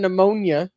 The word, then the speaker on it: pneumonia: Yeah well yeah but I knew there was a silent p in front of pterodactyls then and the one in pneumonia but the the eldest